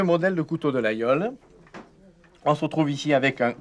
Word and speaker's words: Laguiole: L'Aïole, c'est ainsi que prononcent les gens du pays, est une petite ville au pied de l'Aubrac dans les hautes terres occitanes.